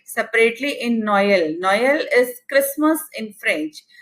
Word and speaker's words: Noël: Noël is Christmas in French. So O and E, you have to produce separate sounds for that.